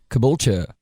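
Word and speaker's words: Caboolture: okay to your uh how do you say your hometown Kabula and that's uh c a b o o l t u r e correct yes and just wanted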